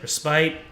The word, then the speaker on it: respite: land of respit respit respite I I looked it up and apparently the pronunciation is respit separo cloud let's bring